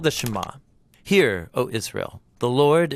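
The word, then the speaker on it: שְׁמַע: is hear or listen which in Hebrew is pronounced shama that's where the prayer gets its name now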